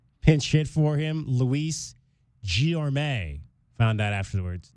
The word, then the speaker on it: Guillorme: Luis Guillorme. Found out afterwards. Guillorme. It's a great name. Is how you pronounce that young man's name.